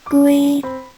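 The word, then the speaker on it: 龟: เต่า นั้น เอง อะ เต่า ภาษา จีน ออก เสียง ว่า กู gui gui เอา เสียง ตาม หา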